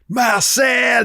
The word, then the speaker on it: Marcel: So I yelled in French, "Marcel!" That's how you would say his name.